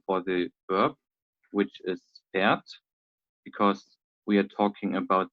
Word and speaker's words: fährt: Yeah, we don't pronounce the R sound because we have Ä, H, and then the R. And every time when the R follows after a vowel, Okay. then we pronounce it just as we do here. So it's more pronounced as an A sound, A, right? And the H here in the middle can be omitted for the pronunciation.